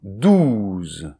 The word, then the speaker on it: douze: So then followed by [z]; so this [z] here is the voiced - S.